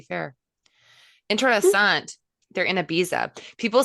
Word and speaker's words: Ibiza: no, like I always want to laugh when people say Ibiza. And I'm like, it's Ibiza. Just Ibiza.